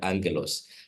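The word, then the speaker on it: ἄγγελος: The second gamma is not pronounced as a as a g, but as an n just like in the word angalos.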